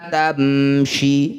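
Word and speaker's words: تَمْشِ: Wala tamshi, mim sukun bertemu bukan mim, bukan juga ba, disebut bacaan namanya idhar syafawi. Bunyi mim baca dengan jelas, syafawi, bibirnya rapat, tidak usah dengung.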